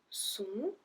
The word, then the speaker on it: sont: Ils sont. So we don't pronounce the T at the end.